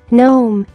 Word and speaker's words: gnome: G is silent in the following GN words. Gnat, gnat. Gnome, gnome.